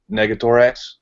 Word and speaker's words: Negator: It's like we can't in because this particular chat is controlled by uh Negatorx or how do you say your name? Negatorx. It's negator and the X's were just uh okay negator suffixes.